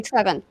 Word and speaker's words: Trevin: Is it Trevlin? Trev? Yeah, it's Trev. Or you Trev. can call me Trevin.